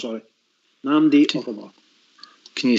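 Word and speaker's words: Nnamdi Ofoborh: By the way, that chap's name is Namdi Offalborn. Right. Sorry. Namdi Offalborn. Can you spell it?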